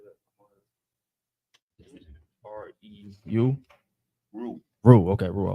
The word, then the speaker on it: Reu: R-E-U?